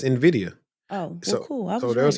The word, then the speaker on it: Nvidia: Nvidia that's how you say it no it's Nvidia oh cool so there was an article that came out say hey if you've been saying Nvidia you've been saying it wrong because Nvidia but